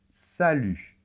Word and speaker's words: salut: pu très bien et attention la lettre t final ne se prononcent pas et ça c'est très